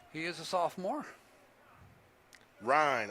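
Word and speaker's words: Ryne Sandberg: Ryan, R-Y-N-E. Ryan Sandberger. One syllable. Ryan Buffalo? Sandberger, just like the hamburger.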